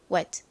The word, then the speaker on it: wet: 그리고 가장 끝에 t가 왔어요. t는 트 소리 나죠? 그런데 이렇게 끝부분에 오면 들릴동 말동 약하게 소리가 나요. 이렇게 바람 빠지듯이. 그러다 보니 빠르게 발음하면 wet 이렇게 받침처럼 들립니다. t를 받침으로 표기할 때는 주로 어떤 글자로 표기한다고 말씀드렸죠? 시옷으로 보통 표기하죠. 자, 그래서 이 wet의 발음은요, wet입니다.